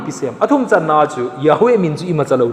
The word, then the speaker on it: Yahweh: hi nahi this is okay vin hi chu pronunciation chu Yahweh hi ti jong hi vin hi chu Yahweh